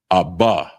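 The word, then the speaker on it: אבא: So father is Abba, Abba, and it's spelled AHBA, and that's father.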